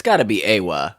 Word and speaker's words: Eywa: It is spelled EYWA, so Yeah. it is Awa.